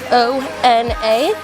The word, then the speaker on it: Ona: tattoo is my nickname I know it looks like Veno or something but it actually is o n a my nickname is Ona my real name is